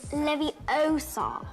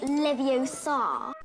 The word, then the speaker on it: Leviosa: someone's eye out besides you're saying it wrong it's leviosa not levio sarr i like the wizards